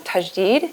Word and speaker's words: Tajdeed: One, you call the issue, I'm going to say it wrong, Tajdeed? Tajdeed.